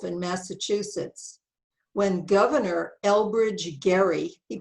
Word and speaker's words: Gerry: is from 1812 in massachusetts when governor elbridge gary he pronounced his name wrong created this map of